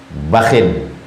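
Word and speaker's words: بخ: Nabi sallallahu alaihi wasallam berkata, "Bakhil. ba dengan khaya dua. Pertama bakh ujungnya sukun. Yang kedua cara membacanya bakhin. Itu bahasa Arab ungkapan.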